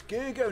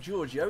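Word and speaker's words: Gergő: Oh, it's Gergo, not Giorgio.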